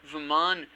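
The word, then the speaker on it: Vamana: Vaman could effectively take the place of, or Vaman as they pronounce it, Vaman can take the place of a hunter.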